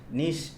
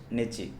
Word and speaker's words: niche: ஓகேங்களா, ஸோ ஹவு to estimate your நீஷ் நிச்சி. ஓகேங்களா, ரெண்டு விதத்தில் ப்ரொனவுன்ஸ் பண்ணலாம்.